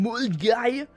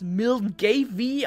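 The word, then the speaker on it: Milngavie: Ja, es war ein reinstes Abenteuer und dann bin ich irgendwann gegen 3 in Mulgay, was Milgavy ausgesprochen wird, weil die Schotten wollen mich ärgern anscheinend, gelandet.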